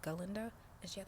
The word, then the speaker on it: Galinda: I don't know um he pronounced it Glenda and it was galinda and she had like